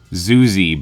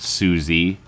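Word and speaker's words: Zuzy: Zuzi, by the way, is spelled Z-U-Z-Y. It is not Susie. I know you might be hearing it that way.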